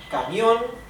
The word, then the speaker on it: camión: However, since the word camion is carries actually the accent on the O, right, the word for truck, then it is a diphthong, as you can see here.